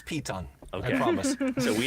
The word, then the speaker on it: piton: fixing a normal rope to that to that python uh piton uh yeah we yeah we need